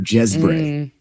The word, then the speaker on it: Geesbreght: Jezbre."